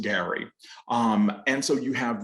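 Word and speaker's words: garry: on in the novel characters refer to the gary g-a-r-r-y and what that is is gallery so if you think about the gallery in front of a house they would pronounce it gary um and so you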